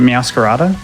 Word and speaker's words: Meowscarada: Is it Meowscarada? That's how I say it. Because it's supposed to be like a masquerade, but it's a masquerada.